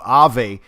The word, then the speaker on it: Aave: digitex future engine uh aave which is pronounced i believe ave and that's one we're